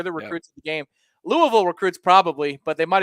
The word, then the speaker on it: Louisville: how's that richard tate louisville i guess the s is silent um moving on nicholas